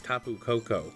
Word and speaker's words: Tapu Koko: His name is TAPU KOKO. Oh man, that was fucked up. Do you want TAPU KOKO?